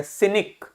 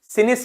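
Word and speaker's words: cynic: sound हो जाएगा और इसके बाद देखो कोई वाल नहीं है तो क्या हो जाएगा सिनिक सिनिस नहीं क्यों क्योंकि सी के बाद वाल नहीं था सिनिक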